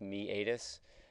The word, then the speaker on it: meatus: ear the external acoustic meatus so this is pronounced me adis this is also known as the auditory canal